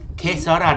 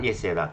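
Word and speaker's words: que sera: Kesara, not Yesara. Kesara, Q-U-E, correct, Mukri. I say Yesara wrong. Q-U-E, Sarah, S-E-R-A.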